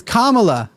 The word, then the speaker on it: Kamala: it's like it's like it's Kam say her name right name it's Kamala just say her name